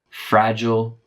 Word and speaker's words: fragile: Fragile or also fragile. Both of those could be accepted.